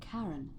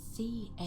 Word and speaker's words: Charon: It's just as you described it, only your pronunciation is a little off. The name you heard wasn't Karen. It was C-H-A-R-O-N. Charon.